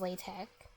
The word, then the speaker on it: LaTeX: called latex oh like the way the people who made the language intended it to be pronounced was latch I didn't know that